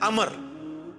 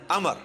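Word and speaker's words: عمرو: लफ्ज़ ही गलत है लफ्ज़ उमरू तुमको लब्ज नहीं है लब्ज है अमर लिखा होता है उम्र लेकिन उसका मतलब वो जो है वो साइलेंट होता है और वो का मतलब यह है की आपने इसे पेस की बजे जबर से पढ़ रहे हैं उम्र की विजय पढ़ना है अमर तो हजरत अल्लाह इसका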